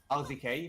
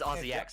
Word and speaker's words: RZX: and yeah, Rexor and RZK, if I remember the name correctly. It's RZX, I just keep mispronouncing it.